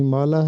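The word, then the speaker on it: ہمالہ: تو اس کا درست جواب ہے ہمالا۔ اس کا درست تلفظ بھی ہمالا ہے کے نیچے زیر لگا ہے۔ کلیات اقبال اور بانگ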